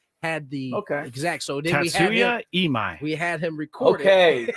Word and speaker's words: Tatsuya Imai: Tetsuya Ime, is that how you say it?